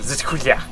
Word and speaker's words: Z2A HQ: Z2A HQ? Yeah, you pronounce it Zizkuya. Ah, back to Zakuya headquarters.